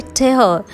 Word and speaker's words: tear: जब यही same word TEAR spelling के साथ बोला जाता है tear, तब इसका अर्थ होता है फाड़ना।